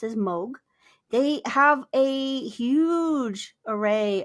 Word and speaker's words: Moog: So it looks like it's Moog, but it's actually pronounced as Moog.